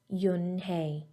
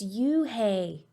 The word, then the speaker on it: Unhei: n h e i it's pronounced yunhei oh it's you hey the boy said like you hey what about hey you